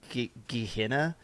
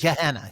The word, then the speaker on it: Gehenna: It looks more like it would be pronounced Gehenna. It's G-E-H. Gehenna.